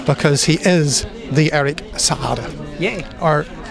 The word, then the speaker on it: Saade: Yeah, no, it's Saade. So there is a slight gap. Yeah, exactly. You need to pronounce it with a double A. So yeah, Saade.